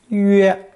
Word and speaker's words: 曰: Pronounced first tone, 曰, 曰.